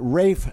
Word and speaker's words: Ralph: was pronounced English have problems with pronunciation they pronounce it Rafe Samuel uh was his name but he it